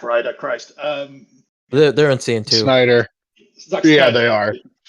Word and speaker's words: Snyder: Snyder. Zack Yeah, Snyder. they are. It rhymes.